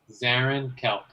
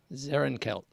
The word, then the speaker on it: Zarrinkelk: So my name is Zarrinkelk. Zarrinkelk. Yeah, 2 syllables.